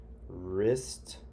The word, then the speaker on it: wrist: were silent silent kay let's go to silent w so this is ruff ruff and right wrist this part of your